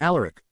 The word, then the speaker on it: Alaric: You'll probably want to pronounce it all Alaric, but it's all Alaric.